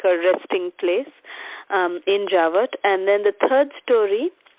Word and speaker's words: Javat: Javat, the name Maharaj explained this place, Javat. It's 2 syllables.